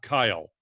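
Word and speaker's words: X Æ A-12: XAE-A12 is pronounced Kyle, because X is the Greek letter Chi, AE is AI, and 12 is the 12th letter of the alphabet, which is L.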